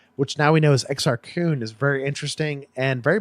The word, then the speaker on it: Exar Kun: exa r que un which anthony healed who narrated the audio book inexplicably pronounces this exact teen he every time it drove me crazy oh my god about you but I've always heard it pronounced this Exar Kun ya Exar Kun and